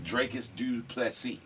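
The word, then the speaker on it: Dricus du Plessis: Dracus Duplessis.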